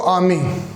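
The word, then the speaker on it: army: British English में दोस्तों are silent रहता है इसलिए बोलते हैं इसको आर्मी।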